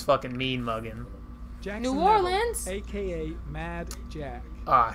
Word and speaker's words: Orleans: Have you memorized every street of your hometown of New Orleans?